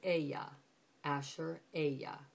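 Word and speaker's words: אֶהְיֶה אֲשֶׁר אֶהְיֶה: pronunciation is what's interesting here here you would pronounce that as Aya Asher Aya and notice how you see the father's name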